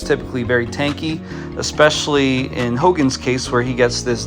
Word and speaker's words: Hogne: This is Hogan. At least that's how I'm choosing to pronounce it, like Hulk Hogan.